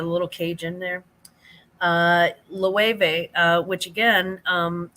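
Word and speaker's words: Loewe: be lows it's l o l-o-e-w-e and it's pronounced level um go yard also uh old fine leather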